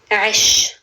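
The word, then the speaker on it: عش: It starts with the letter Ain. Aish.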